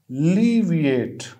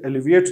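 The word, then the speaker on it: alleviate: इसकी जो है वो साउंड श्व से शुरू होगी, अलीविएट, अलीविएट। यहाँ पे आप देख रहे हैं कि श्व और एल के बाद जो है वो लॉन्ग ई आया है, ठीक है। हम इसे एलिविएट नहीं कहेंगे, इसे अलीविएट कहेंगे।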